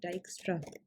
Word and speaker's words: Dijkstra: ठीक है, इसको हम डाइक्स्ट्रा कहते हैं बिकॉज ये एक डच साइंटिस्ट ने दिया था. सो the right pronunciation is डाइक्स्ट्रा.